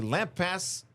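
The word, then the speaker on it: Lampasas: Um, and the Lampass, that's how you say it, Lampassis River and the Guadalupe rivers rose over 30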